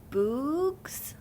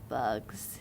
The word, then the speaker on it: bugs: "Bugs," he said. "Good," said Stanley. "Remember, it's a short U if there's no E at the end.